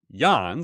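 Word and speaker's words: Yann: quickly re Yan retweets Yan so Yan it's the same it's spelled different um Yan w y Ann Yan laon and Yan likey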